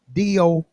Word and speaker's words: Dobong: Now that Sister Dobong is Dobong, Sister, sister, and Dobong, Sister Dobong. A lot of people like to spell it Du. It's Do. When you say DU, you're going to go to the country, Sister Dobong.